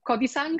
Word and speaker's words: Kodisang: Our session now today is about the hero's journey, and more specifically, the specific hero's journey of Ben Kodisang.